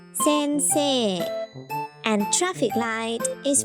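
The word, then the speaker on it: 先生: For example, teacher is pronounced sensei and traffic light is pronounced 信号.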